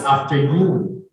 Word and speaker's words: afternoon: Now, if I'm gonna ask you, where is the stress for the word afternoon? First syllable or in the second syllable? Second, it's afternoon.